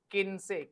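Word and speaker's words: quince: इट इज 15 इज किन से क्यू यू आई एन सीई क्यू यू आई एन सीई किनसे किनसे इज 15 so this was द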